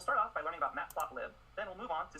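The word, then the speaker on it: Matplotlib: Map plot li or as some people pronounce it mapplot live is the most popular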